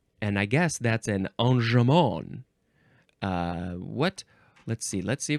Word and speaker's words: enjambment: You can also pronounce this. This seems like more the proper way to say it. Enjambment? Enjambment. Enjambment. Yes, because it's probably French.